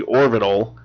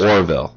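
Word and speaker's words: The Orville: pronounce this want wrong I want to say the orbital but I know it's Orville Orville I've been watching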